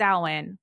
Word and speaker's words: Samhain: as as that pronounced it's Owen which is the correct way to pronounce it but I was snooping